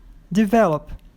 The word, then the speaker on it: develop: Develop. A sílaba forte é a do meio, então você não pode dobrar.